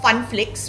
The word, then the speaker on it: Phunflix: So I would request all my well-wishers, fans and friends to download the app of Funflix, which is spelt as PHUNFLIX, and watch अभी तो party शुरू हुई है।